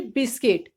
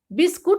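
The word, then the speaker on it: biscuit: या फिर बिस्किट, बिस्कुट नहीं बोलेंगे, हम बोलेंगे बिस्किट।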